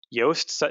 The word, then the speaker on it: Yoast: yoast or yoast seo yoast is is spelled like toast but with a y now that plugin will